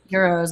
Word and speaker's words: gyro: Yes, the G is silent. Gyro.